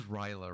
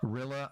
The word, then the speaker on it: Rilla: It's also, like I said, hello, it is Ryla, right? That is... I think it's Rilla? Rilla.